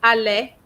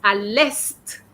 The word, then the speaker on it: à l'est: Because here, it's not the verb to be, it means east. So it's got a different pronunciation, okay? So, il est arrivé à l'est, and you pronounce the T as well.